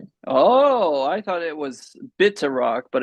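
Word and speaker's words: Pitaraq: Oh, I thought it was bitter rock, but it's pit rock. It's spelled pit rock, but it's bitter rock like a B. You say it with the B sound, not the P.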